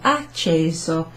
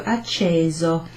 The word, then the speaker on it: acceso: So this has got a single S in it, acceso, acceso. And you might have noticed that's kind of like a sort of a z kind of sound, so acceso instead of acceso. Right? There's only one S there, so we don't pronounce it acceso.